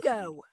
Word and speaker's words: bingo: bingo. Is that how you say it? Yes. We just say bingo.